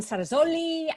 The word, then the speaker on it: Cerasoli: f1 journalists all the way from brazil julianne sarazolli did i do any better pronouncing your surname this time julianne oh good